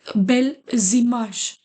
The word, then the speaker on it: belles images: See, your first letter is ending with the consonant. Immediate, the second word is voyelle. So you will read it like bel zimash here.